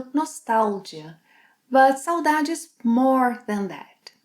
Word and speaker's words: saudade: By the way, saudade is the Brazilian Portuguese pronunciation.